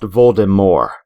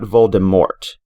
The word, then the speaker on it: Voldemort: antagonist in the series his name is pronounced voldemort not voldemort there would be more french flair to it because it is a french name and that fact alone means that trailing tea isn't pronounced jk rowling has said that